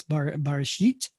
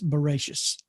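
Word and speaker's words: בראשית: It's pronounced, again, like in Sephard, it's Bereshit. And in Ashkenaz, it's Bereshis.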